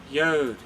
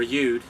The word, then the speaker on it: Yud: going on to Yod or Yud. It's the way it should be pronounced. I suppose we'll call it Yud.